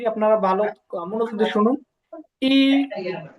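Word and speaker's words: 一: তো এক যেটা, হ্যাঁ, এক হচ্ছে চীনা ভাষায় কি বলে? ই, ফার্স্ট টোনে ই।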